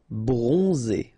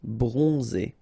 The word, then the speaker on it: bronzé: So O-N, on, and then Z. It's really pronounced like Z. Bronzé. Bronzé.